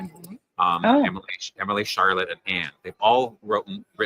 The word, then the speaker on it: Charlotte: Charlotte, would have pronounced Charlotte with a hard R, so it would have been Charlotte, not Charlotte. And Bronte would have been pronounced Bronte, and so they spelled out Tee, not Bronte.